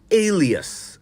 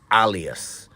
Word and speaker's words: alias: I mean why anyway I hope you heard me say Alias and not alas it's such a common mispronunciation isn't it well for the record the word is Alias a l i a s Alias not alas it is used when